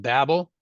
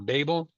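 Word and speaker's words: Babbel: Matter of fact, I think there's a company now that's called Babel or Babel. I guess you can pronounce it either way.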